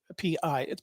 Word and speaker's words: Pi: And I know for certain China has under General P, PI, but it's pronounced P, has a program similar to ours.